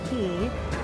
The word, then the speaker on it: Quay: The old Quay House, it's pronounced Quay, and we have our first course.